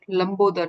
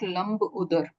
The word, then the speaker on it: Lambodar: Like if we are calling it Lambodar, then we would pronounce it Lambodar, not Lambudar, if we could, if we can.